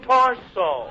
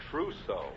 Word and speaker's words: trousseau: I just bought a completely new torso. You got a new what? Hold the wire a minute, sweetheart. Hey, Remley, how do you pronounce that word? Trousseau.